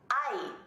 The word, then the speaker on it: hay: Hay, pronounced like I, but spelled H-A-Y.